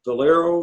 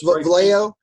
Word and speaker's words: Vallejo: Where did you purchase the Valero? Is that how you pronounce that? Vallejo.